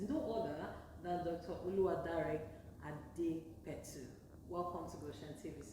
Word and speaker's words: Adepetu: My name is pronounced. I'm Dr. Adepetu.